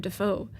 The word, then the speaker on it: Defoe: Defoe Pro. Wow, it rhymes. Defoe. Mr. Defoe Pro.